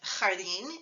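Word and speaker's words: jardín: an accent mark are like Jardin in that video they end with an N so you would expect next to last dress but instead they have final stress which is irregular so you have to mark it with an accent mark sweat there is like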